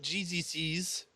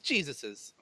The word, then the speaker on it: Jesus's: If Jesus owns something, it's not Jesus's. It's Jesus's.